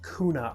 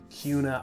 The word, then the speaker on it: Kuna: a lot of people think it might be pronounced kuna idaho but that's actually not correct as you can see it's actually hear me saying it's pronounced cuna idaho so if you want to sound like